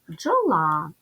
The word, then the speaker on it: бджола: ділимо джола ставимо наголос бджола позначимо приголосні звуки перший приголосний звук Б твердий дві букви поряд д і ж в українській мові позначають один звук Дж він твердий л - твердий звук